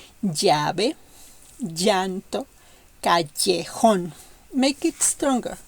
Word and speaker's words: llave: Double L in this case is a strong Y. I have listened a lot of people speaking Spanish, foreigners speaking Spanish, that these letters pronounce it like you will pronounce yellow or yawn. No, in Spanish we have to make it strong.